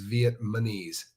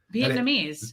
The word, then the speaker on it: Vietnamese: but inside prison the the word Vietnamese is vietmanese nobody says it right Vietnamese yeah they say it with an m and it drives me